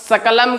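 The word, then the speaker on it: सकलम्: तो यदि हम व्याकरण नहीं पढ़े होंगे, वर्णों का उच्चारण हमें नहीं आता होगा, तो हम सकलम को शकलम पढ़ेंगे, सकलम को क्या पढ़ेंगे? सकलम।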